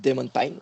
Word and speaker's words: Damon Pyn: Aujourd'hui, j'ai invité un marketeur qui s'appelle Damon Pine. J'espère que je prononce bien son nom. Ouais, Euh, c'est juste.